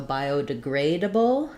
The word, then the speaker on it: biodegradable: materials or containers so biodegradable is going to be stressed on the grade syllable so bio degree double is that the spelling sounds like grade uh bull syllabic l at the end and then by biodegradable